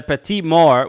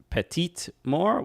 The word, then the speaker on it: petite mort: It's Le Petit Mort, which is the small death. Not which. Thank you for that clarification. But yes, in French, you pronounce the letter at the end before an e. Petite Mort.